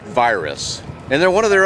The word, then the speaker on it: Virus: folks are coming from Eastern Europe and they pronounce it varus and Cena's I guess that's a way to